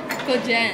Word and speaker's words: Kogen: It's Kohen. Yeah. It's like in Japanese. Yeah. We're back there in Iriga. Yeah, yeah, yeah. We pronounce it as Kogen. Kogen. But here, they pronounce it as Kohen.